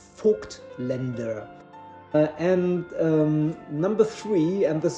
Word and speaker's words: Voigtländer: But Voigtländer is completely wrong. And the word or the name is pronounced Voigtländer. Voigtländer.